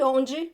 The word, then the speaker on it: onde: lot of questions but what is the correct pronunciation OMG only they are all correct they're just different pronunciations in different parts of my beautiful big country they're all good so I say anji because that's how I pronounce it but if your friends or your family members pronounce it differently it's totally fine you can pronounce the way they do so onji means